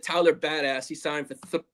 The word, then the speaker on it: Biadasz: Biadasz, I have to learn how to say his name properly. It's Biadasz, but I'm just going to call him the Badass.